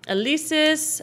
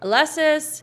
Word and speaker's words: Alesis: instruments instrument rack i'll save it as my alesis alesis i still don't know how to pronounce that alexis synth haha hit enter and you are good